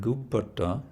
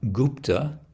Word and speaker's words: gupata: The word gupata is an example where the word is slightly stretched out to add one syllable. Normally it would just be gupta, but for the sake of the poetry, it becomes gupata korya.